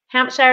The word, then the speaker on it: Hampshire: Hampshire is that how you say it yeah Hampshire it's at this yes you can say it